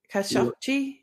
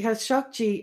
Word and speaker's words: Khashoggi: Yes, that's the way that some Saudis I heard pronouncing it. Khashoggi?